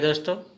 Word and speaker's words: দ: क्या उच्चारण करेंगे? मूर्धन्य। ठीक है दोस्तों, समझ गए?